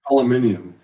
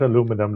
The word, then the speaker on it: aluminium: Uh automotive grade standards has successfully rolled off the say aluminium. Aluminium. It's not aluminum like the Americans say. I I say aluminium.